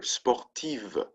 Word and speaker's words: sportive: We add a V and an E, right, for the singular, sportive, sportive.